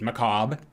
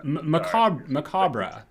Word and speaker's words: macabre: Because the word is like, there's the American, like, United States pronunciation, which is macabre, and then there's the like the British English, which is like also the Canadian version, which is macabre.